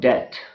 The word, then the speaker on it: debt: Again, in the words doubt and debt, B is silent.